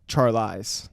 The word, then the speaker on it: Charlize: David, you keep pronouncing the name wrong. It's Charlize.